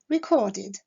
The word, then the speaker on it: recorded: Le verbe record se terminant par le son de, la terminaison ed se prononcera id, recorded.